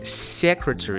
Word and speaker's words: secretary: Він його вимовляє з пом'якшеною s. De secretary general. пом'якшені, приголосні в англійській невластиві. Тобто правильніше казати буде secretary, не secretary, як s з м'яким знаком с, а саме тверда с secretary.